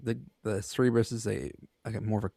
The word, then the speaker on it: Cerberus: Cerberus I think sounds wrong. it's Cerberus. Cerberus also is a multi-headed dog that guards the gates of the underworld to prevent the dead from leaving.